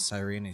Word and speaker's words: Cyrene: From that moment, the sole survivor of the old dynasty, Imperator Cyrene, issued a Cyrene, okay, I was pronouncing it correctly.